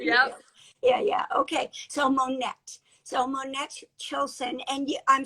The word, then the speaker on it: Monette: i'm pronouncing it correctly i say monet but it's it is monette monette okay yes well that